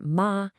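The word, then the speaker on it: 妈: Let's break down the character from mother, which is ma, pronounced ma.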